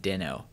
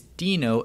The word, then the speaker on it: Deno: node and yes I'm aware that Ryan Dahle pronounces it Danno but you might be unaware of the lovely new artwork that has emerged showing that it is not den o the sock puppet it is Dino the dinosaur and if